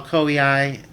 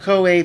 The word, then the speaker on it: Koei: nine years old Coe I used to call koei as a child actually well into adulthood until I realized oh wait that's not how you pronounce that now that I have some idea of how romanji Works in Japanese but KOA put out